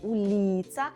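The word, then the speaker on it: ulica: Це означає, коли ви бачите слово уліца, то наголошуєте передостанній склад. Рахуємо з кінця наголошений склад Лі. Старайтесь зараз повторювати вголос за мною. Уліца.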